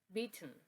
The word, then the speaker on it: beaten: next word we have beaten beaten can you find the syllabic consonant yes is the n so now why is the syllabic consonant is that when you have a syllable with AWA followed by one of those consonants you don't need to make the schah sound it gets absorbed by